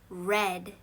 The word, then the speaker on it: read: 저번 주니까 과거형이라서 스펠링은 그대로인데 발음은 read.